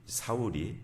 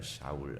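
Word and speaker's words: שאול: 히브리어로 사울 우리가 그냥 사울하지만 좀 약간 어려운 발음입니다. 샤울 하면 근데이 그러면 그 말이 이제 잘 다른 유대인이 아닌 사람들은 무슨 말이야?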